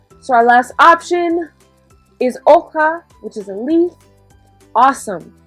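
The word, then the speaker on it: hoja: there d we've got oha remember that h is silent so repeat so looking at our images we've already chosen three so our last option is oka which is a leaf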